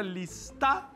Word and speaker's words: lista: É um Lzinho aqui, bem na pontinha.